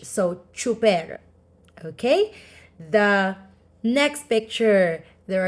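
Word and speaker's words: tsuper: driver in Tagalog is is pronounced as like CH so chuper okay the next picture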